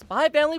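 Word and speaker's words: Spy × Family: Spy X Family, or Spy Family. You know what? I'm going to make a controversial hot take here. I know it is pronounced Spy Family, but the X is there!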